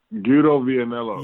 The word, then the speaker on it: Guido Vianello: His name is a little hard to pronounce. Let me. Yeah, I think I know the guy. So his name's Guido Vianello.